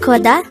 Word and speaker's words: 걷다: hangover word number 68 the word coda is another root verb which means to walk